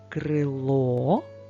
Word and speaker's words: крило: наголос в цих словах одне крило наголос на О молодці багато крила